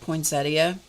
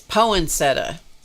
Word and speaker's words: poinsettia: in the middle is I started with a poinsettia or one of my friends insists that it's poinsetta I bet that's not how it's spelled but they absolutely swear that it's poinsettia it's like I don't think so my dad no my dad would not agree with that but anyway so I